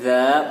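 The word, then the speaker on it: ذ: Kalau huruf za itu lidahnya dikeluarkan sedikit dan ditempelkan ke gigi atas. Za. Dan ada sedikit angin yang keluar dari sela-sela lidah dan gigi atas. Za.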